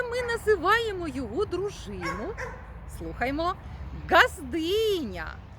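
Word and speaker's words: ґаздиня: називаємо його дружину слухаймо газдиня газдиня теж чітко і дзвінко вимовляємо звук Ґ А звідки ж ці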